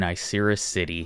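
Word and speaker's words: Icirrus City: pick this up in isera city which I looked up the pronunciation straight from the anime straight from the episode caution icy battle conditions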